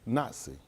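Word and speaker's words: nasi: Because the word for prince is Nazi. You can look it up. They'll spell it N-A-S-I.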